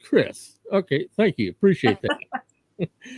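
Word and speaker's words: Quriss: i believe it's uh queerus i think q-u-r-i-s-s i think that's how it's pronounced but i am horrible names so i appreciate you tuning in and thank you for uh oh it's pronounced chris okay thank you appreciate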